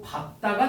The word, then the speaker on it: 밟다: 자, 앞에 리을이 탈락해서 밝다가 아니고 밥다가 된다는 거예요.